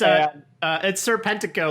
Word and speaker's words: Serpentico: It's Serpentico, like one word. I feel like you added like a sir, like he's like a British, whatever, squire or whatever.